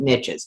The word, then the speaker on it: niches: are in the niches that's why I pronounce it niches because it rhymes with riches yeah I could I